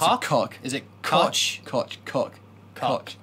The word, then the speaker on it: Koch: Is it Koch? Koch, cock. Cock. It's a cock power tone.